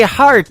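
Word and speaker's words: Harte: That is the latest single from my good friend Robbie Hart. It is H-A-R-T-E on her last name, and that is called Heart in Two Places. Yeah, just like your heart.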